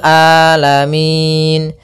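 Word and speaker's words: العالمين: mengalir kemudian di sini huruf Ain hati-hati jangan sampai merubah huruf ainnya menjadi Hamzah banyak yang terjadi kesalahan dalam pelafalannyaitu meng dengan Alif atau Hamzah maka dibaca rabbil alamin harusnya rabbil rabbil alamin alamin ya rabbil alamin Kemudian pada lafal Min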